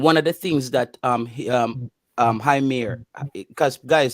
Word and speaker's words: Heimir: that Heimir, because guys, his name is not Heimir, it's Heimir. There's no, because the I in Icelandic and Swedish is pronounced as ear, so it can't be Heimir, it should be Heimir, something like that.